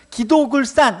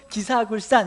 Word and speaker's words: 기도굴산: 그래서 기사굴보다는 기도굴이 오히려 그리드라 쿠타라는 발음에 더 가깝다는 거죠. 그래서 어떤 분들은 기도굴산 이렇게 부르는 분도 있고, 어떤 분들은 또 기사굴산 이렇게 부르는 분들도 있어요. 그러나 어떤 것이든 좋지만 원래 발음의 의도는 아마 이 그리드라 쿠타라는 것을 염두에 두자면 기도굴이 원래 맞는 발음이 아닌가, 그렇게 생각이 됩니다.